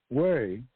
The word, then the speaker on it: hui: language lesson I'm giving you right now but way h e y is an informal loan Club